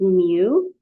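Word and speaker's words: μ: writing the other one and so this is Mu which is kind of like a u and an M smoosh together it's pronounced muu that's the Greek letter mu lowercase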